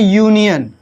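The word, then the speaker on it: union: तो देखिए इसको हम पढ़ते हैं यूनियन, और जो आपका या है यह क्या है, कॉन्सोनेंट ही क्या, नहीं है ना, कॉन्सोनेंट है ना कि वॉवेल है, इसलिए इसके पहले हमारा ए लगेगा।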